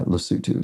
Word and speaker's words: Lesotho: something like Lesotho maybe but it's properly pronounced uh Lesotho so thank you to